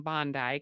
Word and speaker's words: Bondi: I'm saying Bondi because you're Australian and apparently that's how you pronounce it.